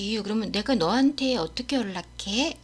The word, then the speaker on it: 연락해: 그래서 연은 L 리을처럼 소리 나고요. 그래서 연락해 이렇게 안 해요. 그냥 연락해.